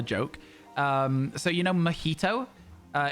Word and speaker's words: mojito: you know mojito uh it's got a J in the middle the drink a Mojito um I heard somebody in a shop in the the north of the UK calling it a magito with pronouncing the J and I don't know if they were joking or if that's how they did the pronunciation but if you don't know that the J is an H if you just read